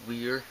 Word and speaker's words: Weir: I'm going to review a book, and the book I'm reviewing is The Martian by Andy Weir, I think is how you pronounce his name, last name at least.